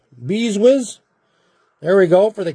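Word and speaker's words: Brzustewicz: Beeswitch. Beeswizz. There we go. For the Calgary Flames.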